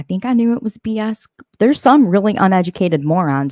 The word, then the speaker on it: BS: my name wrong okay it's not bees it's not Bes it's not be easy it's BS it's b s I'm